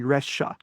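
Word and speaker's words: Rexha: That name is actually Rasha. So that X is like pronounced like the sh in Xinping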